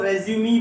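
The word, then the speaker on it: résumé: अगर मैं इस वर्ड को रेज्यूमी पढ़ूंगा, अगर मी के ऊपर स्ट्रेस दूंगा तो उस वर्ड का मीनिंग बदल जाएगा।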